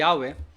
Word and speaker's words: Yahweh: yad he wad Hei na ang pronunciation ay yahwe Pero ito nga po